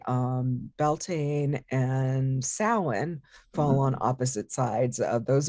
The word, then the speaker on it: Samhain: october 31st it's pronounced samhain it looks like sam hayne which um is not a guy's name just laughing because we